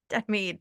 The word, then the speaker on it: Denmead: Denmead, Denmead.